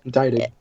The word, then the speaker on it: indicted: Indicted. Isn't it? It's indicted. It has the C. Oh, you're right, I guess. Yeah. Indicted for. The C is silent. It is indicted.